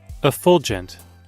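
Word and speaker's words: effulgent: What the How do you pronounce this word again? Oh, it's f Oh, a fulgent.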